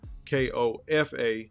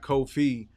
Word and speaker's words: Kofa: podcast I'm your host Kofa k-o-f-a not coffee not Khufu not Kofi or any variation thereof Kofa rhymes with sofa it's phonetic it's only